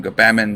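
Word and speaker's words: Gbamin: we're gonna call him go baman because it ran into jamon rhymes with banging what else is it rhyme with spammin oh well we got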